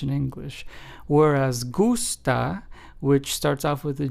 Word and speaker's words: gusta: Whereas gusta, which starts off with a G but then is followed by a u s t a, which means like in Spanish, is pronounced as gusta, as opposed to justa.